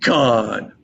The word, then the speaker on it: Conn: Just my name in full, Khan. Khan's pronounced like Khan, but it's not spelled the same way.